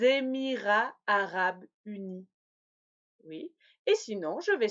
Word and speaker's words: Émirats arabes unis: Oui, si le pays commence par une voyelle, je vais faire la liaison en Z. Par exemple, les États-Unis ou les Émirats arabes unis.